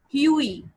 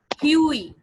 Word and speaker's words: Hughie: We are going to pronounce it Huey. Huey. Okay, how do we pronounce it? Huey. Yui. Okay, GH is silent.